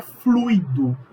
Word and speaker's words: fluido: Se pronuncia circuito, se pronuncia gratuito, se pronuncia fluido, se pronuncia rubrica, não é rúbrica.